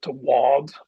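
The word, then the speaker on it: bhád: So a simple example, a sailboat is a bod shoal, but if I say my sailboat, it changes the pronunciation and the spelling of bod to wad, BH.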